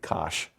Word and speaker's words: cosh: abbreviated cos h and that's pronounced phonetically kosh so um gosh and